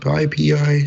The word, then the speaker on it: PyPI: That was William Woodruff and Nicole Harris talking to us about PyPI security.